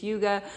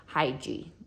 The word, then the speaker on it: Hygge: you pronounce this, and that is how you pronounce it, is Hygge, which is not how I had been reading it in my head. In my head, I had been saying Hygge.